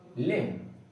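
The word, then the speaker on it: limb: इसका सही प्रोनाउंसिएशन होगा क्लाइंब, डम, टोम, बॉम्ब, लिम।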